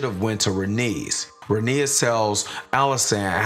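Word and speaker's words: Rhaenys: in my last recap I was actually pronouncing Renee's name wrong as Renee but she and Allison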